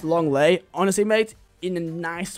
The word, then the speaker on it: Lenglet: It's pronounced Longley.